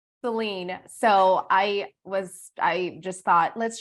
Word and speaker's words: Celynne: I've been called Cheyenne. I've been called literally everything other than Celynne.